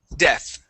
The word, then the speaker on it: death: a a t there when we pronounce the th uh we put our tongue between our teeth okay like this okay